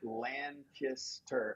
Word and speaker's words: Lancaster: have revealed that um you just have to say it land kissed her and then make it fast land kissed her Langston and and that's